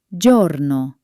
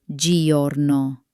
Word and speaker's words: giorno: Its only mission is to make sure the g sounds soft, like a j.